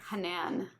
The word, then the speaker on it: Hanan: Hanan. Hanan. But has emphasis on the first. Okay. Yeah. And so in Arabic, the long vowel in my first name is on the second part, but the long vowel